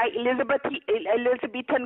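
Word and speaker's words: Elizabethan: एलिजाबेथ collar नहीं होता, एलिजाबेथन collar होता है, आपको तो प्रोनाउंस करना भी नहीं आता।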